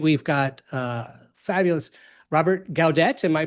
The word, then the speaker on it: Gaudette: So tonight we've got a fabulous Robert Gaudette. Am I pronouncing it properly there, Robert?